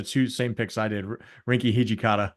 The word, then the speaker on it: Rinky Hijikata: And I like Rinky Hijaka. I don't know how to say his name. Bro. Yeah, you just had the two same picks I did. Rinky Hijikata. Rinky Hijikata.